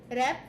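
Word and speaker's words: wrap: র‍্যাব উচ্চারণ হ্যাঁ এটা উচ্চারণটা র‍্যাপ আর এ পি র‍্যাপ কিন্তু সামনে ডব্লিউ আছে হ্যাঁ ওয়ার অনেকে উচ্চারণ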